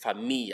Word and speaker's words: famille: Famille as well. Famille. As if it's F-A-M-I-Y. Not famille.